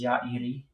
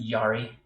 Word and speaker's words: Yairi: Acoustic guitars, and I've recently about 5 years ago, discovered Alvarez Yairi, or as most folks pronounce it, Yari. It's a dreadnought. It's Kazuo Yairi is he's a Japanese guitar builder high in